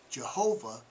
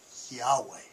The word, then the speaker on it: Yahweh: many of you know it says there's no god-like Jehovah the correct pronunciation there's no God like Yahweh there's no God like